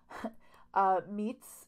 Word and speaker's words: Miet: Meet's name is spelled M-I-E-T, but again, pronounced Meet.